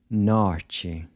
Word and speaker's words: norte: Norte. “Art”? Arte. Part? Parte. Night? Noite. So the “t-e” is pronounced like the “c-h” in chip.